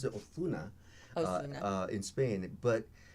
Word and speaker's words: Ozuna: It's pronounced Osuna. Osuna, and which is Spanish. it's Spanish. So it originates in Spain. Uh-huh. And they pronounce it Osuna, Osuna.